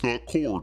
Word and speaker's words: corps: the suicide corpse oh Nick pronounced corpse. core time to send an anchor email don't put the pee there I won't say it